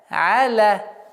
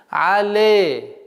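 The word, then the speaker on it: عليهم: Аля. Алейхим. И нужно обратить внимание, чтобы при произношении фатха не было звук Это ошибочное произношение. Але. А нужно аля.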